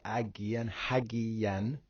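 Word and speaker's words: ἁγίαν: Having gone forth out of the tombs after the resurrection of him, they entered into the holy city, Hagian, because it's got hard breathing.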